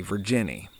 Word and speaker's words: Virginia: Back in old rural North Carolina, in those parts of Appalachia, to pronounce a word that had an A sound on the end of the word, you used a long E sound.